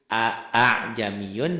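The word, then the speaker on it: أَأَعْجَمِيٌّ: Maksudnya hamzah kedua dari kalimat tersebut tidak jelas dibacanya. Fathahnya.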